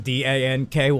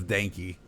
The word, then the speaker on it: Denki: I thought it was Danky. I was like, my No, brother. That's Denki.